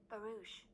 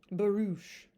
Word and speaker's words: barouche: long barous well let me see hold on barouch barouch cool it's kind of a cool little carriage